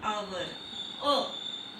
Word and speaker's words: hour: because an hour. okay, it's hour. Its pronunciation is with a vowel sound.